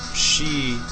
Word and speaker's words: Sidhe: Actually, the word is pronounced Scythian in one version of it, and so you have she plural and Sith singular for the fairy folk of